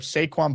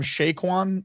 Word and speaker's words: Saquon: And by the way, Neil's pronunciation of Saquon Barkley, did he call him Shaquan?